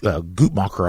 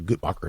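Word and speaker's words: Guttmacher: Tennessee yeah um uh it's the gutmacher I believe is the the correct pronunciation of of this but the gutmacher Institute um they they're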